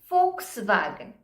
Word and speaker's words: Volkswagen: is yes yeah or v that is foul so foul you must have heard this folks wagon okay pronounces for so